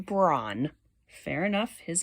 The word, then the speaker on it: Bran: It's not Bran like the cereal. It's pronounced Braun.